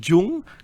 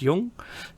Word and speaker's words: Jung: And you could say Jung cuz it's spelled J U N G, but it isn't. It's it's pronounced Yung.